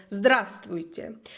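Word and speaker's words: здравствуйте: que es muy difícil se dice zast y se escribe con una letra por el medio que no se pronuncia se escribe pero la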